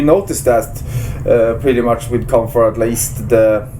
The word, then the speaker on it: Kampfar: Hey, you guys got to check out Kampfar. Am I pronouncing that right?